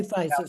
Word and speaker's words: physis: we can say both. It's if we're going to, pronounce it the way it is in the Kaufman translation, it would be physis, but fusus says the same thing.